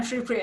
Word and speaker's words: Shripriya: How did I say your name? Shripriya? You said it right the second time, Shripriya.